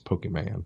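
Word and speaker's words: Pokémon: You pronounce it wrong. It's Pokemon.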